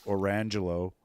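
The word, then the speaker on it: Orangejello: There was also a guy that I heard of that uh named his kid Orangelo, but and it was literally spelled orange jello, but they pronounced it Orangelo.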